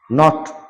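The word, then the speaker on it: knitting: যেমন নক মানে ঠোকা বা টোকা, নাইফ মানে ছুরি, ন্যাক মানে দক্ষতা, নিট মানে মালিশ, নো মানে জানা, নলেজ মানে জ্ঞান, নট মানে গিট্টু, নিটিং মানে হচ্ছে বোনা, নি মানে হাঁটু, নীল মানে ঝোঁকা বা হাঁটু গেড়ে বসা।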